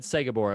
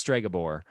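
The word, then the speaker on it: Stregobor: and you know what i said sega borah i've been saying it wrong this whole time it's stragabore is so different wow strikeout no more um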